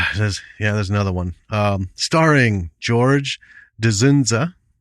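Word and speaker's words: Dzundza: Starring George Dzunza. Sunza? I think the D is pronounced.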